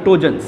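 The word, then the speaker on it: pnictogen: बात करें टोजन व्ट आर टोजन P silent है वी कॉल टोजन ग्रुप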